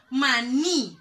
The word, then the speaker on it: maní: casa acá se casa la sílaba tónica en la que sí donde yo hago la mayor fuerza del maní maní lleva tilde me doy cuenta me doy cuenta porque lleva la el acento la tilde es la sílaba tónica yo puedo realizar